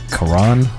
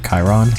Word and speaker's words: Charon: little bit ago um his name is uh Quran or Chiron I can't say his name correctly because it sounds like kairon the hunter but it's basically just Quran um so basically he's